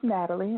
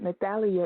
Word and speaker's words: Natalie: Well, it's Natalie. Natalia is the Spanish pronunciation of my name. So it's pronounced Natalie.